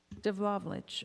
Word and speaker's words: Devlaovich: Is that how you pronounce it? Devlaovich. Yes.